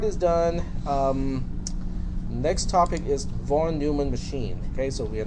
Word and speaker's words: von Neumann: One of my students from the previous class, it is pronounced as von Neumann, not von Neumann.